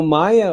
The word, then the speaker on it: Maya: to ransomware for Maya I pronounce it Maya m-a-y-a with this significant stride